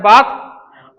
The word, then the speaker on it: bathe: सिर्फ स्नान का इंग्लिश होता है बाथ और स्नान करना का होता है बेथ।